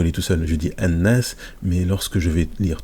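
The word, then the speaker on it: الناس: Et donc là, on ne prononce pas ici, parce qu'il y a une shadda, et quand il y a une shadda, le lam qui est avant, on ne le prononce pas.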